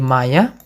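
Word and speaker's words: моя: Feminin jadi maya.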